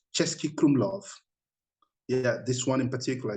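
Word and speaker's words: Český Krumlov: amazing places like there's a particular place called chesky krumlov yeah this one in particular if you want to write it down chesky krumlov how do you spell that uh you say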